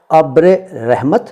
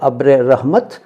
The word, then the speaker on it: अब्र रहमत: इनका क्या अर्थ है पहले ये जानिए कि इनका शुद्ध उच्चारण क्या है। वैसे मैंने इतनी बार पढ़ दिया है, बोल दिया है इस वीडियो में कि आप समझ गए होंगे कि इनका उच्चारण है अब्र रहमत या अब्र रहमत और तरबतर।